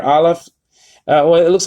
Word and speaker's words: aleph: The aleph is silent, so you don't pronounce it.